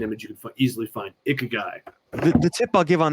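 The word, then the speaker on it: ikigai: diagram that Mark is talking about it's the ik guy which is a Japanese concept and that's spelled i k i g AI everybody you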